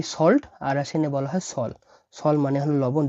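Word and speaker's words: соль: দেখুন এটা এস, এটা ও, আর এটা এল, আর এই অক্ষরটাকে বারবার বলছি আমি, শুধু এই বি এর মতো হলে এটা উচ্চারণ হয় না। এটা একটা সাইন। এটা এটা যে অক্ষরে পিছিয়ে থাকে সে অক্ষরকে এটা কোমল করে, এটাকে বলা হয় কোমল সাইন বা সফট সাইন।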